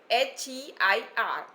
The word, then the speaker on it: heir: Also, as he was the last person means the last heir of his family, H-E-I-R, heir, and the hair is also, the pronunciation is same, H-A-I-R and H-E-I-R, hair.